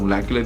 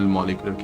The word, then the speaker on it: molecular: दोनों प्रोनाउंसिएशन है, मतलब बेसिकली इंग्लिश में तो मोलेकुलर ही होता है, पर हम अपनी लैंग्वेज में इसको सिंपल मॉलिक्यूलर कह सकते हैं।